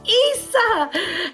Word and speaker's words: isa: And here's one of the words that I want you to learn, and it's called Isa.